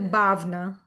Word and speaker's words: Bhavna: pronounced as Bhavna. Bagna. Bag Bhavna. So the W is pronounced as V, so it's Bhavna.